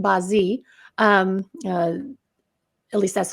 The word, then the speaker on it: Bazi: I'm doing the Chinese astrology charts it's called Bazi um uh at least that's how I'm pronouncing it it's B a z i because